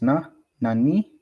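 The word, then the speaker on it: 何: The the Japanese question word for what has two pronunciations. Nani, nan is used immediately, immediately before des or before a counter like G. The other form, nani, is used before a particular.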